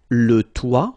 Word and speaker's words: toit: Okay, so la sonnette, le balcon, le toit, remember final T not pronounced, la fenêtre, le grenier.